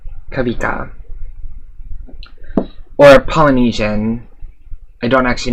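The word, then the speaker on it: Kawika: Spelled K-A-W-I-K-A. It's Hawaiian, Kavika. Or Polynesian. I don't actually know if he's... No, he's Hawaiian. Yeah, Kavika.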